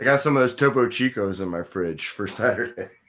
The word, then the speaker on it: Chico: you spell that t-o-p-o c-h-i-c-o chico like literally how it sounds well because no if you say well it like the spanish spelling i would say okay